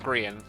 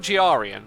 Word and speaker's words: Grian: The one whose name is pronounced Grian, not Giarian. Don't get it twisted.